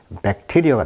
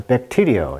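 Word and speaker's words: bacteria: 그래서 이제 세균을 이제 의미하는 생물학 용어가 이제 백테리어가 되겠죠. 강세가 이음절했습니다. 그래서 백테리어 이렇게 나와 있네요.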